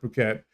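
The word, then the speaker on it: Phuket: can pronounce it a different way but it's pronounced puket puket is um a beach destination which is I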